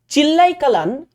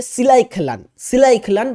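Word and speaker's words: Chillai Kalan: চিল্লাই খেলান, বা এটাকে উচ্চারণ এইভাবেও করা যেতে পারে সিলাই খেলান বা চিল্লাই খেলান, উৎসবটি কোন অঞ্চলে তীব্র শীতের সময়কে চিহ্নিত করে?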